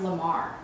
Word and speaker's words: La Mer: And I want to try the new La Mer, but I heard it's pronounced Lamar.